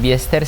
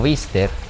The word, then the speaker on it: Biester: piso realmente equivocados porque no es biester sino bister Pero bueno aquí nos